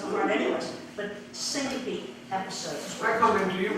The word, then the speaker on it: syncope: They were called syncope episodes. Look that up. How do you spell it?